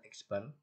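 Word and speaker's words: x̄: X bar itu X dicoret di atasnya, itu membacanya X bar.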